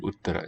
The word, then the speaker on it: uttara: Well, the fact, if you remember these as tarap tamap, you will know where the accent must be in a word like uttama and uttara. It's got to be on the first syllable.